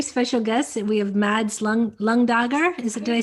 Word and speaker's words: Mads Lundager: We have Mads Lundager. Did I say that correct? Yes. Is it? I did say it right? Yes, it's Mads Lundager in Danish, but no one can pronounce Danish, so it's perfect let's with say Lundager.